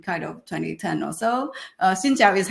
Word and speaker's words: Xin chào: Xin chào is how you say hi in Vietnamese.